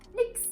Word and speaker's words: nix: a shortened word, is that whenever Germans say Nichts. they actually say nix. I mean, we replaced the very hard combination of with just an X.